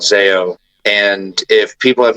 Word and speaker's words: Zao: um there's a band that I love called zo and if people have not heard of them it's spelled Zao and the 9s is just in